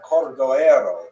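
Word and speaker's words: Cordoeiro: his matzeva, his gravestone, it's Cordoero. It's a Portuguese spelling, but it's kind of a strange thing to pronounce in Hebrew, so it was sort of mangled into Cordovero, and that has become the standard, even though it's probably not correct.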